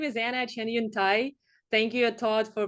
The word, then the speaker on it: Cheniuntai: awesome uh yeah so my name is Anna Chun Tha thank you a Todd for pronouncing my last name uh you know perfectly